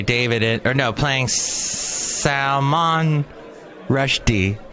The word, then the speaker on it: Salman Rushdie: it or no playing Salman Rushdie you're supposed to put the emphasis on the second syllable in sound Rushdie is